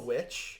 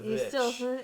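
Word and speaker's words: VVitch: Is it still Witch? Yeah. Or is it Vitch? It's not Vitch. Okay. It's still Witch.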